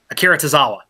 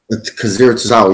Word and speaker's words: Akira Tozawa: Brooke, damn, I don't want to mispronounce his name. Kawasaki? Akira Tozawa. Akira Tozawa, yeah.